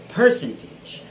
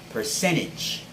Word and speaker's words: percentage: is commonly pronounced as percentage putting the stress on the first syllable which is not a proper way of doing it so it has to be on the second syllable instead it is percentage or percentage so there